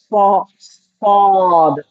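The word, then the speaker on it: ص: The tongue will be going a little bit on the upper palate behind the teeth, upper teeth, behind the upper teeth. Okay? Pushing up your tongue a little, but don't touch much the upper palate behind your upper teeth and say sod, sod.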